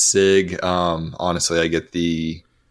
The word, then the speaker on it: Sieg: it go but uh sig is the actual pronunciation so and we were